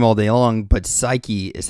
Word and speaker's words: Saiki: can read her name all day long but psyche is how you pronounce it I pretty sure he's done his research he's pronouncing this correctly psyche I will never forget that now I am